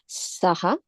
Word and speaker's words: सः: This is the Visarga coming. H under the dot. Sorry. H and then under the H is there is a dot. It is Visarga. Okay, so it will be pronounced as saha, Yes.